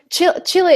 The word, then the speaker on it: Chile: So Bourneville, Chile is Chile, right? So if we follow the rules, the country we would read as child, but we do not follow the rules for Chile. We just say Chile.